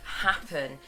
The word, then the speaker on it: Happn: So moving on to number 2, it's called Happen, and that's spelled Happn.